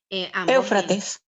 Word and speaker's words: Éufrates: ¿Cómo se pronuncia? Eufrates. Éufrates.